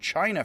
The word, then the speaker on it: Qin: spelled q i and for some reason q now stands for a ch sound so the chin which is actually where we get the word china from as much as